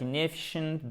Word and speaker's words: inefficient: Inefficient, accent tonique sur la deuxième voyelle, mais ici c'est un i court.